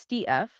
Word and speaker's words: stETH: That is pronounced stETH, short for staked ETH.